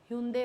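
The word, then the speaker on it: Hyundai: मारुति हो गई, हुंडई हो गए, ह्यूंडई बोलते हैं वैसे इसको, हुंडई नहीं बोलते हैं, ह्यूंडई है उसका करेक्ट प्रोनाउंसिएशन।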